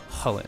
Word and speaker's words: Chulane: Technically, what the name is based off of is some ancient lore, and the character's name is pronounced Chulane, or more like Chulane.